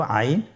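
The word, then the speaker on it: عين: এর মধ্যে একটি হরফ হল আইন। আইন হরফটি উচ্চারণের সময় অবশ্যই তিন আলিফ টেনে পড়তে হবে। এখন আইন হরফটি বারিক হরফ। পাতলা করে পড়তে হবে।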